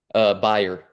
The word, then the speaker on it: Bayer: Is it Bayer? Buyer. Bayer, Yeah.